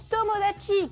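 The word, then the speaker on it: 友達: C'est le mot tomodachi qui veut dire ami.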